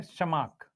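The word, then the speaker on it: Tschermak: कोरेन्ज़, एक क्या Eric von, T silent है। शेरमक।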